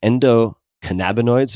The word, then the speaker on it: endocannabinoids: about, maybe you can tell me how to pronounce this, endocannabinoids.